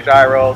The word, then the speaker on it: gyro: of the country you're in some post a gyro some quotes a euro but the traditional pronunciation is in the euro there you go will tell me what goes